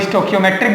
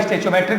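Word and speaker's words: stoichiometric: कोई स्टोकियोमेट्रिक बोलता है, कोई स्टेचोमेट्रिक बोलता है. Spelling is mine, pronunciation is yours.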